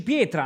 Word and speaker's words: pietra: Allora, sta petra, si dice pietra, non si dice petra.